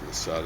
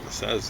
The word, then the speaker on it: Masada: Masada, I think it's Masada is how it's pronounced.